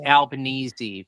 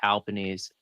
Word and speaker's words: Albanese: No, Anthony Albanese. There we go. Well, actually, it's Albanese, but they pronounce it Albanese.